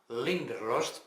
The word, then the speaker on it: Leander: historia va de un inspector alemán linder está bien pronunciado porque eso lo he escuchado audiolibro linder leanders escribe